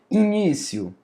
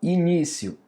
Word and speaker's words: início: Início, ó, início. I ni ci início. Eu não falo início para ser separado. O do final é início.